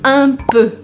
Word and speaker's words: un peu: Então, por exemplo, eu falo un peu. Un peu. Un peu. Un peu, que eu escrevo P-E-U, eu pronuncio E.